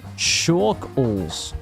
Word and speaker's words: Chalkles: It's pronounced Chalkles. Chalkles.